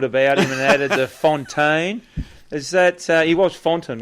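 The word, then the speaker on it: Fontyn: But, no, it is Fontaine. It's got two little dots above the Y, but the fact that it's spelt F-O-N-T-Y-N, because we don't have dots above the Y here in Australia.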